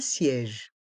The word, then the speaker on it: siège: escalator un escalator un siège un siège ici on prononce bien le son est avec le E accent grave un siège un siège